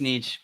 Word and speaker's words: niche: right there you go so I say Niche she says Niche but we get along